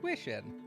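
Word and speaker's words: 귀신: In Korea, kaiju are often referred to as Gwishin, pronounced Gwish-in.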